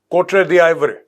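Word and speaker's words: Côte d'Ivoire: South Africa 6 Arab, Nigeria 3 Arab, Egypt 2 Arab, democratic Republic of Congo 1.5 billion, कोटरे दी आइवरी, ये this is द आइवरी coast, this is a French pronunciation, 1 billion, Kenya 1 billion, Ethiopia 800 million.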